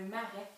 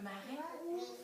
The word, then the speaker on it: marais: On va aller écouter ce qu'on entend dans marais. Dans marais, j'entends ma. Ma, ça s'écrit M-A. Puis j'entends ré. Marais. Ré, ça s'écrit R-A-I. Parfait. Super.